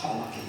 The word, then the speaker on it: Taranaki: up to you, but I heard you say Taranaki, it's Taranaki.